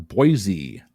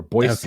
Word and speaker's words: Boise: which U.S capital city is pronounced with a z sound by Outsiders but an S Sound by locals uh uh Sacramento unfortunately Boise or Boise okay Boise or Boise